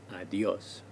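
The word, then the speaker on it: adiós: again notice also that there is a written accent on the o of adios adios this helps us tell where the stress is adios three more informal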